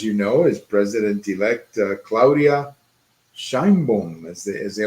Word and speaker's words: Sheinbaum: When I was watching the debate, I heard it like Sheimbaum. Yeah, Sheimbaum. I would say it's Sheinbaum, but you know, whatever.